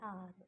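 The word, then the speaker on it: hour: Aunt, आर, यहाँ एक थोड़ा सा डिफरेंट रूल लग रहा है क्योंकि एच जो है वो साइलेंट है और जहाँ भी एच साइलेंट होगा, जैसे आर, ऑनेस्ट, वहाँ हम एन का यूज़ करेंगे।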